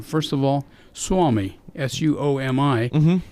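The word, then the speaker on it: Suomi: of all saw me su OMI is the actual name of Finland Swami that's the Finnish version the national bird is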